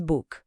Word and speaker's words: book: A palavra book tem aquele som de U mais curto, como input, sabe?